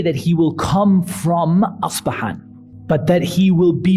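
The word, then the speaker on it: أصبهان: The Arabic term, the Arabic pronunciation of the city is Asbahan.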